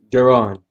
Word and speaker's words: Jaron: Jaron.